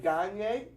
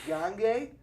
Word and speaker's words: Gagne: Also, I always pronounce the name Gagne, even though it's not. It's Gagne. I just pronounce it wrong.